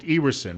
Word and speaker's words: Ewersen: And you pronounce it Ewersen, right? Just like it's spelled. That's correct, Bill. Ewersen.